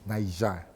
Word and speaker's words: Niger: You're saying something else and pronunciation is very important. Very very because they are watching. No no nois. Let me tell you something. It's Niger. But when I'm saying it